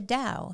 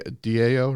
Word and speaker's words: Tao: Now you're talking the Tao. The Chinese believe in the Tao. Yeah, DAO, right? TAO. Oh. It's the Tao. That's how you say it.